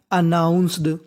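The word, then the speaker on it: announced: और एन 2 बार लिख रहा है, तो एन का उच्चारण कितनी बार करना है? केवल हमें 1 बार करना है। तो मीनिंग बन गई अनाउंस्ड।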